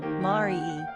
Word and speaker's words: Marie: Pronunciation, Marie, French or Maitri, English.